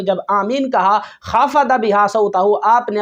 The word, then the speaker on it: آمین: यानी हुजूर अलैहिस्सलातु वस्सलाम ने अमीन नहीं कहा बल्कि आमीन कहा اور صحیح تلفظ بھی یہی ہے۔ رسول اللہ صلی اللہ